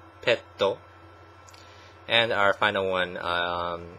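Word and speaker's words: ペット: know pet animal um Japanese pronounced pet as petto petto and our final one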